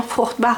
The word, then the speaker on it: Fruchtbar: Oui, je dis bien Fruchtbar à l'allemande.